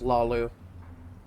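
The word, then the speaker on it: Hlaalu: The Ulan family of House Lu, a rival great house, has placed a death mark on the counselor's head. I love that the age is silent with House Lu.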